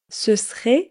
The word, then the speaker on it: ce serait: » Ce serait donc ce serait. Vous allez voir, quand on parle vite, on ne prononce pas toujours toutes les syllabes.